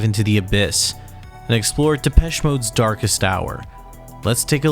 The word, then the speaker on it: Depeche Mode: of that name and we chopped off the accent and we just kept the pronunciation for those unaware of the band's history Depeche Mode was a group that